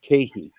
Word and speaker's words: KeHE: this offline, which is KeHE. KeHE, it's spelled K-E-H-E.